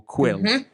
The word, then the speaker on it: Kuiil: always get wrong uh they always apologize for pronouncing it wrong so is it Quil or quill Quil Quil um and what a character it